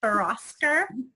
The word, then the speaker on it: Bhouraskar: and please, I don't want to mess up your last name, but Bhouraskar, I believe is how it's pronounced. That's correct.